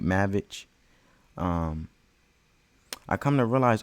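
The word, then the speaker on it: Maravich: Pete Maverick Pete mavit I think I'm saying it right cuz I used to say Maverick it's Pete mavic um I come to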